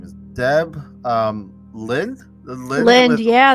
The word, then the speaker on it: Lindh: is Deb um Lynn Lind yeah the H is silent yeah I kind of